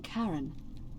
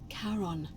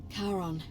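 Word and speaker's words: Charon: is a little off the name you heard wasn't karen it was c h a r o n as in caron the ferryman of the dead karon who in exchange for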